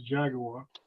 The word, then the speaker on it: Jaguar: No, I was just saying that Rob pronounced it correct as Jaguar.